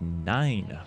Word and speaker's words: Nein: Duty Modern Warfare 3 this achievement is pronounced nine uh for the you that don't know how to pronounce it and for this one